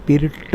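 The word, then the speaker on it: Pirc: पण मी एकदा बोललो त्याचं spelling P आय आर सी आहे पण त्याचा उच्चार पीर ट असा आहे ट पीर कन आहे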